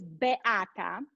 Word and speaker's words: Beata: you let me go back my name is be atta he did great you need i need